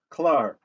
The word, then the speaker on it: klaar: So when, being, you, and finally the word klaar. Klaar, complete. Associate the heavy K sound phonetically of klaar with the heavy K sound for the C word complete in English. Both have the heavy K phonetic beginning.